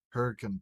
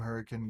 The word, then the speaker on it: Hurricane: and specifically the Hurricane Police Department, that's not how you're actually supposed to pronounce it, but if you're from Hurricane, you know the fuck what I'm talking about. It's actually spelled hurricane. Hmm. But if you say hurricane, everyone looks at you like you're fucking psychotic.